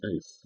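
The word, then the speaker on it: εἰς: And ice, where is my friend ice? Ice is another key word. You're going to encounter that, I think, in verse 5. And it's pronounced ice, even though it's spelled E-I-S.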